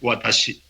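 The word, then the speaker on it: 私: Entonces, por ejemplo, la palabra yo, en japonés se dice watashi, se escribe con ese carácter chino, y en chino se escribe uo, se dice wo, se escribe así.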